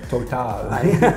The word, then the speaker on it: Total: That's how you pronounce it. Total.